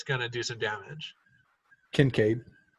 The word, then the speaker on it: Kincaid: work are fired by concave if he fires a weapon then you know that it's gonna do some damage Kincaid Kincaid we're slowly improving your pronunciation yeah because reason fer